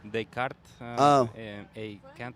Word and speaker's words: Descartes A Kant: that was in English they cart oh a can't what it's French but that's how Americans pronounce it you know oh okay